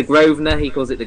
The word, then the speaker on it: Grosvenor: It's a silent S. It's the Grosvenor. He calls it the Grosvenor, which is hilarious.